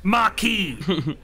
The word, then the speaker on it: Marquis: I was a Marcus already. Oh, Theater of Sloth. Oh, fucking... It is pronounced Marquis.